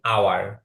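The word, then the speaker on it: hour: করিম, হাওয়ার না, আমি প্রায় এই ওয়েদা, হাওয়ার না, এটার উচ্চারণ হবে আওয়ার।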